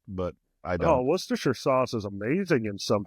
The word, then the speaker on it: Worcestershire: pronounced Worcestershire.